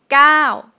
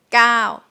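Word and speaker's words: เก้า: sound is number nine gao gao but you can see in thai script it's ow right it's a short vowel but how come it's pronounced long it's supposed to be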